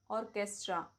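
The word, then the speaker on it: orchestra: एच is silent after C and after W. जैसे architect, ऑर्केस्ट्रा, technical, chemical, character.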